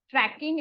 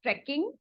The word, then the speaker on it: trekking: It's not tracking, it's trekking.